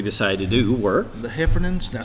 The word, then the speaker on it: Heffernan: The Heffernans. Did I say it right again? That's right. That's the Heffernans.